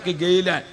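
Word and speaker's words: گیلان: അത് ആ ഉച്ചാരണത്തിൽ ജീലാൻ എന്നത് കൈലാൻ, അത് രണ്ടിന്റെയും കൂടി ഇടക്കുള്ള ഒരു ഉച്ചാരണമാണ് ഗൈലാൻ, ഗാ എന്ന ഉച്ചാരണം വരും.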